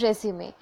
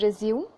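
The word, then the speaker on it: résumé: Yes, your application and resume. First of all, do not pronounce it as resume. Okay, it's not an English word. It is resume.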